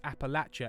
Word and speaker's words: Appalachia: To quote my friend from Kentucky, it's Appalachia, and if you say it wrong, we'll throw an apple at you.